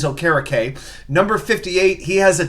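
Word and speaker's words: Okereke: you you've got Bobby Oar and I I've heard about nine different ways to pronounce it but apparently it is okar number 58 he has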